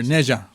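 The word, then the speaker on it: Ne Zha: h ah nea I see but how it's pronounced is Nan or Neja got it what was the first one called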